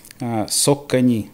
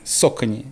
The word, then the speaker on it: Saucony: как только не говорили вообще правильно говорить это сок к ней сока не это в честь реки cos a cane creek чуть по-фински станок может быть я немножко неправильно произношу но они даже на коробках писали раньше как произносить трясло кусок ткани from so gray ты высоко ли rolling высоко не эндорфин правило сока не сока не это на языке индейцев поэтому река называется сока не крик там было на